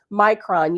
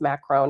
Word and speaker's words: Macron: Yes, I know his name is Macron. And you know, quite honestly, I don't feel like I have to respect him well enough to have to say his name properly.